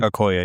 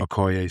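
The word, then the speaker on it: Okoye: Aoy. Aoy, sorry.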